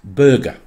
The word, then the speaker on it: Burgar: It's spelt B-U-R-G-A-R, Burgar, but apparently it's pronounced Burger.